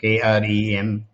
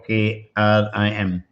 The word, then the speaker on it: Krim: The Cream, you want to go like ice cream. Cream, Krem, or Krim. They normally spell Krim, but pronounce as Krem.